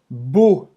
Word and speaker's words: beau: Beau. E-A-U. Em francês tem o som do O, como água.